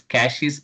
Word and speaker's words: caches: So the exact term I mean pronunciation is caches inteious in the range of minus 5 to 256.